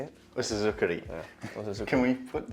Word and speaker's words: usuzukuri: Osuzukuri.